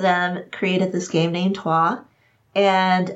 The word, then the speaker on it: Troyes: I say toi. Toi? Toi. It's a French word.